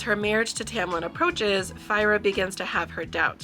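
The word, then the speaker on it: Feyre: in this book fa I'm pretty sure it's fyra but I say fa in my head so we'll just say fyra because that's the technically correct pronunciation so fyra has undergone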